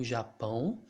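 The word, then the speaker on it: Japão: else have here japan that's how we pronounce japan in brazil japan and this station is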